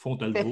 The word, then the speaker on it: Fontalvo: Je ne sais pas si je le prononce comme il faut. Oui. C'est Fontalvo. Fontalvo. Voilà.